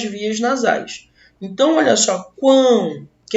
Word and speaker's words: quão: Possui uma só sílaba, eu pronuncio de uma só vez, ó, quão, já foi.